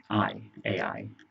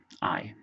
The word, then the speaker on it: Ai: and he hid it in his tent. Well, then the Israelites go to fight Ai. Ai is how it's spelled. I think it's just pronounced I, which was a fairly decent sized city.